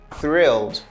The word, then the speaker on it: thrilled: The second word that we have here is thrilled. Okay, we say thrilled. Thrilled. I know it's a little bit challenging to pronounce this.